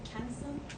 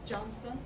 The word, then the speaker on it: Johnson: again confusing probably you will tend to say cancer no it's Johnson because Turkish and in Turkish we expel C as June but it's like the baby powder okay baby powder Johnson & Johnson pronunciations like that okay